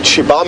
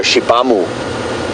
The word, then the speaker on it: Xibamu: Interestingly, in Shangaan, XI is pronounced she. So Shibam is spelled XIBAMU. Kind of don't really pronounce the U at the end. Or at least you shouldn't if you're speaking proper Shangaan. But a lot of people go Shibamu. But it's more a silent U at the end.